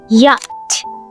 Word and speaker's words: yacht: In American English, it's yacht with a relaxed O sound like hot. Yacht, hot, yacht. In British English, it's also yacht, but the L is more rounded, like lot. Yacht, yacht.